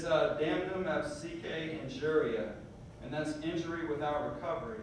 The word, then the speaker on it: damnum absque injuria: I think it's I'm looking in my book because I have it written phonetically so that I can actually say it. It's damnum absque injuria, and that's injury without recovery.